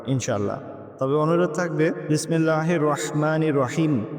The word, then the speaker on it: রহমান: তবে অনুরোধ থাকবে বিসমিল্লাহির রাহমানির রাহিম। এখানে রহমান এবং রহিমের যে উচ্চারণটা সেটা গলার থেকে হবে।